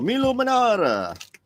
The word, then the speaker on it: Milo Manara: Pronounce it like the Italians do. Milo. Milo Manara.